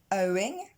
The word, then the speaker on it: owing: Ok, maintenant pour owing, on retrouve le son O de know ou encore de show. Et on enchaîne tout de suite avec le son ing. Owing. Et là, cette fois, l'accent tonique tombe sur la première syllabe.